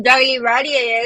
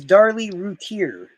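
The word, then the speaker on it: Darlie Routier: Oh, you said it wrong. Her name is Darly Routier.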